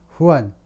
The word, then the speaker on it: Juan: 후안. 그래서 이제 라틴 계통임을 알 수 있죠. 원래는 라틴 계통에서는 스페니쉬에서는 J를 H로 발음한다 이거죠. G가 아니고 흐로요. 후안.